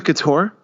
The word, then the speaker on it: Chtorr: The series is called War Against the Couture. It's spelled Chtorr.